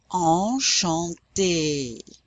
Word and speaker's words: enchanté: A cédille means that C is pronounced like an S. So this word is pronounced enchanté.